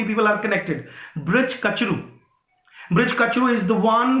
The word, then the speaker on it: Kachru: कचरू, KACHRU, या bridge कचरू. Your first spelling of the name BRIDG is wrong, okay, it's bridge कचरू.